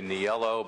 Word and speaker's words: Neal: couldn't begin to develop in the mother country they say niello but it lost a